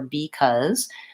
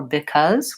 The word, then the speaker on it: because: important thing is that in both of these words the B II is not stressed and so it's not going to be the same as B it's not before or because but I want it to be an unstressed short reduced vowel so in most cases